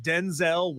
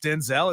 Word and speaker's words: Denzel: So, did you know that Denzel Washington's real name is not pronounced Denzel? It's pronounced Denzel.